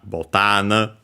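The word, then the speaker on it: ボタン: in this very series botan comes from actually the Portuguese term boton so it's similar to English uh because of that but it's uh the difference is because it's actually from Portuguese also an accented Uh so be careful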